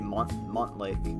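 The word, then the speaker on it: Montlake: They just say Mont Lake. I mean, I speak French, so I tend to pronounce it like mon.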